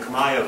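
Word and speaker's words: ខ្មែរ: 과연 그러니까 이 캄보디아를 만든 그 크메르족 그 사람들 발을 크마이어 크마이어 그렇게 발음해요. 우리가 크메르 크메르 같은 크마이 크마이어 그런데 그 사람들의 역사예요.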